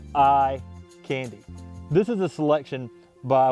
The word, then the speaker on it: Ikandi: talking about Acer palmatum eye candy and that's about ah k-a-n-d-i but it's pronounced like I candy this is a selection